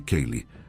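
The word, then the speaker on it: ceilidh: Seid pronuncia-se. Kale é uma reunião social gaélica de música e dança.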